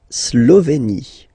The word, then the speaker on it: Slovénie: La Slovénie. Remember, you get this accent aigu here, it's E. Slovénie. Final as usual, not pronounced.